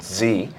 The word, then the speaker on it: DZI: I'm founder and CEO of Z. That's spelled DZI Inc.